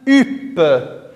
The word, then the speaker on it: hutte: peur mais andy upe la lettre h écrite en rouge ne se prononcent pas elle est muette on dit une hutte c'est la même chose